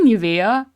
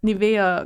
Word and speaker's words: Nivea: I want to say Nivea. Oh, it is. Oh my god. So, it's like that brand, that Nivea lotion.